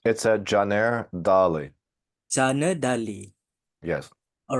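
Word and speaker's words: Caner Dagli: Chanadi Dagli, which I believe that needs no further introduction, but I will read a bit of his biography.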